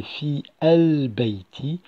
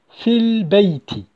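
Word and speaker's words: في البيت: Je n'ai pas prononcé fi al-bayti, mais plutôt fil-bayti.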